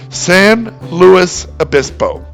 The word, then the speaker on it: San Luis Obispo: The middle word is pronounced like it would be in English, Louis. So the correct way to say it is San Luis Obispo.